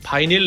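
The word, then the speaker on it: vinyl: 판 기억하시나요 한국에선 흔히 lp라고 부르죠 미국에선 이걸 바이닐 레코드라고 합니다 그런데이 경우에도 발음이 비닐은 아니고요 비닐입니다 자 오늘 쓸만한 지식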